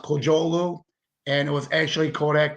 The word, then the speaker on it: Kocaoglu: Last name is pronounced Kocaoglu, and it was actually Kodak, not Xerox.